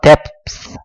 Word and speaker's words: depth: depth 번데기 발음.